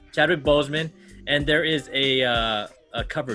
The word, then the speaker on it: Boseman: This is the homage to Chadwick Boswick. Chadwick Boswick. Did I say it right? Bozeman. Chadwick Boseman, and there is a cover D.